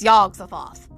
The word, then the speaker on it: Yog-Sothoth: But it's Y-O-G apostrophe dash S-O-T-H-O-T-H. To me, that's yog-sothoth. Is the key and guardian of the gate. Past, present, future. All are one in yog-sothoth.